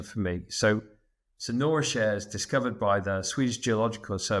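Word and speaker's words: Kärr: bounce up to Nora SC how do you pronounce that share share k a r r share okay um can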